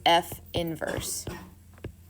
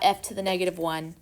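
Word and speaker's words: f⁻¹: You would pronounce this f inverse. That's how you say it. Not f to the -1, it's called f inverse, which is weird.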